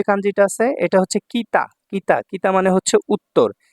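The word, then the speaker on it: 北: তারপর দেখুন 59 নাম্বার যে কাঞ্জিটা আছে এটা হচ্ছে কিতা। কিতা। কিতা মানে হচ্ছে উত্তর। এটার চাইনিজ উচ্চারণ হলো বকু। বকু। ঠিক আছে? তো এখানে দেখুন কিতা।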